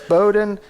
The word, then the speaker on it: Bohdan: Strangely, people that could read it perfectly mispronounced it. Okay. Yeah. So it's Bohdan and Justin.